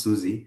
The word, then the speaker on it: SUSE: And now the SUSE family, pronounced SUSE actually, also known in Europe, like widely in Europe, and the large organizations for their Linux distributions and Linux enterprise solutions.